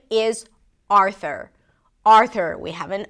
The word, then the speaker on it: Arthur: There is no U sound.